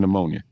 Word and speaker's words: pneumonia: Like, why is there a P in pneumonia? Don't know because it should be pneumonia.